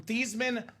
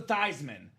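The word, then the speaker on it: Theismann: Dame says Hey Joe let's change your last name from thian to thyman so you can be thyman for the Heisman Joe was a sellout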